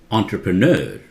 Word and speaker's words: entrepreneur: directly from there okay this is pronounces entrepreneur entrepreneur that's one of the pronunciations which is acceptable by the majority entrepreneur so do not say interpreter how do you pronounce